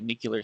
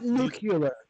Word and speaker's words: nuclear: to do with basically nuclear stability so this is a least get the pronunciation right nuclear nuclear not McCullar McCullar you know where you clean you're not nucular please well sorry so